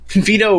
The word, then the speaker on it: Vito: Vito rhymes with pedo, so I'm not sure if that means anything.